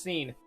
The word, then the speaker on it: Sean: up Sean its seen look at the way it's spelled kid it's pronounced seen what time is it